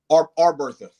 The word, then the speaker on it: Arbertha: And Tez, do I pronounce it Arbertha? Arbertha.